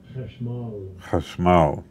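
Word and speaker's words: חשמל: Let's hear it pronounced correctly. Chashmal.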